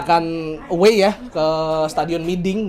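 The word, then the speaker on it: Mỹ Đình: away ya ke stadiun miding bacanya miding Bos miding miding bacanya tuh miding miding ya kan bukan bukan maiding jadi n sama h tuh jadi Eng kalau di di Vietnam terus kita akan menjamu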